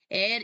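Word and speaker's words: heir: have a natural mail एयर now what is a mail एयर एयर इज़ एच ई आई आर और H silent है यहां पे इस शब्द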